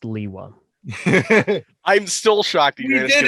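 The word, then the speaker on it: Lewa: question facing bionicle community it's pronounced leewa i'm still shocked we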